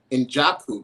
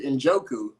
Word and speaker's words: Njoku: I've got Trey, and the correct pronunciation of the name is Njoku, correct? Yeah, that's it. I had to make sure because for a year I was calling you Njoku.